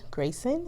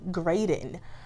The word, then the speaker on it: Graydon: And this is Miss Sunny Grayson, is that correct? Graydon.